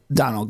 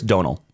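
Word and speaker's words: Domhnall: trip with this guy who's played by uh Donald Gleason. I don't even know how to pronounce his name. Um, Brandon Gleason's son. Yeah, I'm pretty sure it's Donal.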